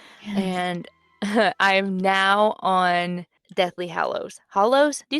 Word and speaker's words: Hallows: Which that's not how it's spelled. I think in my brain I was thinking hollow, but then as I was saying it I'm like Yeah. It's Hallows.